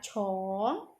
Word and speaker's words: 从: Yang ini kan tadi bacanya apa? Cong ya.